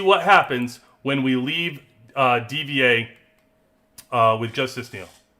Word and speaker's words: D.Va: And by the way, for my purposes, I call it DVA. Everybody say Diva. I say DVA. I don't know. I always did.